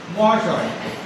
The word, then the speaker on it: মহাশয়: ধরো এই যে মহাশয়টা তোমরা করলে, মহাশয়, এটা থেমে থেমে উচ্চারণ করো, কতটা করতে পারবে? কত ছোট করে করতে পারবে বলো? ম আ এরকম উচ্চারণ করে শেষ অকারটা অধিকাংশ বাংলা শব্দে উচ্চারণ হয় না, তাই উচ্চারণ করার সময়